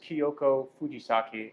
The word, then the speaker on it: Kyoko Fujisaki: out for that Brand's extras podcast go ahead pronounce that I want to mess up with grandma's name oh my grandmother's name is Kyoko Fujisaki and the store is called kyoko's kitchen you